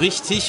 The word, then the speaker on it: richtig: Ja, man sagt ja auch richtig und nicht richtig, obwohl es mit G am Ende geschrieben wird.